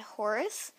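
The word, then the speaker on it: Horze: They're by the brand Horse. It's spelled H-O-R-Z-E, and the collection is Kids and Ponies.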